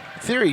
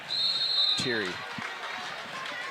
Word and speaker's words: Theory: I believe it's That's pronounced Teary. Really? Teary. I've heard theory all Yeah. over the place, but I don't know. The people I know from Prairie, I don't know, maybe there's a Prairie person watching, but I believe the pronunciation is Teary.